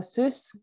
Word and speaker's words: Süss: So Sus, as you pronounce it, because it's got umlauts for the German audience, or how it should